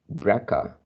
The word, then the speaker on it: BRCA: These findings have practical implication for women who are BRCA, pronounced BRCA, mutation carriers, since carrying these genes is associated with a higher risk for developing breast cancer, ovarian cancer, and pancreatic cancer.